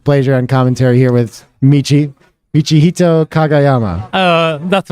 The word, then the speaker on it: Michihito Kagayama: Nick Blazer on commentary here with Michihito Kagayama. That's right. Did I do well? Did I even pronounce it right?